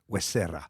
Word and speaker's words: Huesera: Huesera. Merci. Et c'est mieux sur accent tonique.